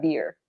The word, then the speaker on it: beer: collocation sorry um pronunciation the sound the sound is cinnamon not bare but beer the bartender says sorry